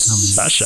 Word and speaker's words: Sasha: You got to add some stank at the end of it. Sasha.